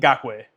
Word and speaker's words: Ngakoue: I can't pronounce his name, but he went to the Minnesota Vikings. Yeah, Yannick Ngakoue.